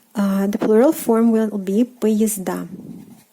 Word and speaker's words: поезда: The plural form will be поезда. Поезда. Again, A is stressed, поезд, поезда.